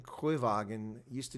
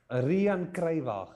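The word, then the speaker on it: Riaan Cruywagen: Now, who is this Ryan Kruiwagen? Used to do Hadas Sinus. Rian Kruiwagen. Oh, well, it's spelled Ryan here, so you can understand why I got it wrong.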